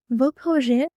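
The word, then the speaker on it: vos: If the noun is plural we use v. We don't pronounce the s. For example po means project. The s makes it plural. So vo means your projects.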